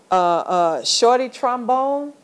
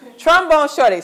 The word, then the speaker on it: Trombone Shorty: Shorty Trombone from New Orleans has a special place in my heart. Trombone Shorty. I said it wrong. Trombone Shorty.